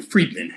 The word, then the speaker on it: Freedman: Freeman or freem men Freedman Freedman with a d yes like fried man judge but we pronounce it freed freed all right that's